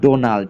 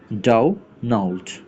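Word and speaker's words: Donald: আর ডোনাল্ড আমরা normal বলতাম ডোনাল্ড, বাট এখানে কি লিখছে দেখেন ডাউনাল্ড, এই যে নাউল্ড, নাও এরপর একটা হা আছে, হালকা করে হা আছে। ওকে, ডাউনাল্ড ট্রাম্প।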